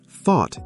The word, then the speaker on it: thought: Thought is pronounced like fought.